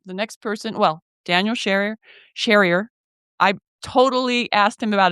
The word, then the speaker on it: Sherrier: Well, Daniel Sherrier. I totally asked him about his name like 3 times to say it right. So it's right, Sherrier.